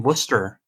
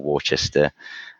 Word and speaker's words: Worcester: from what I'm told everyone that I've met that actually is from that area insists that it's Worcester so it just it